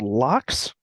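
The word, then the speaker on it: LOX: make the combustion okay it's a thing called locks and rp1 okay so locks is spelled l-o-x so it's liquid oxygen and rp1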